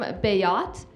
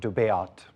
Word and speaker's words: Béat: I was named after a patron saint of Switzerland, Saint Beatus, and they shorten it to Béat, but in the US it's pronounced Béat, so I always have to explain my name.